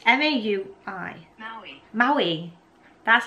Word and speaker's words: Maui: Maui. Maui. That's how I pronounced it.